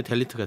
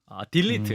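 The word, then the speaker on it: delete: 만큼 아, 진보 진영에서는 이제 델리트가 됐다. 딜리트. 음. 네, 아, 죄송합니다.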